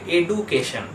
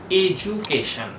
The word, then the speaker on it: education: লোকে সাধারণত এই ওয়ার্ডটার উচ্চারণ করে এডুকেশন, কিন্তু ঠিক উচ্চারণটা হয় এজুকেশন। এজুকেশন। Ward number 2, AUGUST।